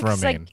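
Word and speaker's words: Romijn: it yep it's it's spelled romajin and it's pronounced romaine i know i know life is hard when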